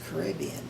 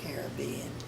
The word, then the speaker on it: Caribbean: And I said, it's Caribbean, not Caribbean. And he said, what makes you think that? And I said, well, they were talking about it on the radio, and they called it the Caribbean Sea.